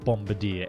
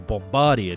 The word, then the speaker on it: Bombardier: time which is a bombardier aircraft or bombardier depending on the way that you pronounce these french words and these aircraft they're